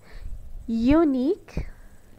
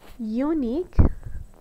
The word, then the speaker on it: unique: Like when we say unique, unique, we use the U and Q. The U has the U sound, but the Q doesn't have the Q sound at the end.